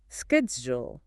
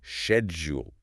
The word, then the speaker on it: schedule: So, for American English, it's typically like sked. And for British English, it's more commonly schedule like shed. Both are widely understood. Both are perfectly acceptable.